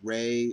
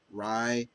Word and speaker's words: Rei: Um, Depending how you pronounce her name, it's spelled Rei, but some they kind of pronounce it Ray or Rye, however you want to pronounce it.